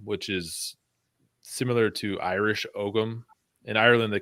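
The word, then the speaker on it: Ogham: is similar to Irish Ogum. In Ireland, they call it Om. In America, we pronounce the G.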